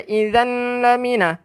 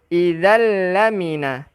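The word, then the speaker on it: إِذًا لَّمِنَ: Kita tak baca idzan lamina, tetapi kita baca idzal lamina.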